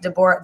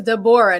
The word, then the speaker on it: Deborah: me the hebrew actually the jewish like hebrew pronunciation is deborah so he's like you will be deborah bente zebulun okay so everybody is deborah not deborah i pronounced